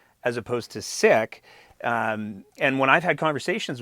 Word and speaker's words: Sikh: in this group, who honestly believe that it's pronounced Sikh as opposed to Sikh.